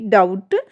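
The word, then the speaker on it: doubt: Rules to यदि किसी शब्द में टी से ठीक पहले बी आता है तो बी जो हमारा है वह साइलेंट रहता है। फॉर एग्जांपल्स देखिए डी ओ यू बी टी डाउट डी ई बी टी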